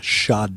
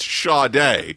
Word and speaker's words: Sade: It's Sade. It is Yeah. Sade, sir. Yeah, both the first and last letters are pronounced differently.